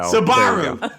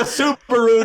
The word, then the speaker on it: Subaru: know Bob sagot ribiero I love that you mispronounced something else too Ribero there you go sabaru sabaru go to go to Subaru to get a sandwich in my sabaru I'm totally confused it's so awesome and and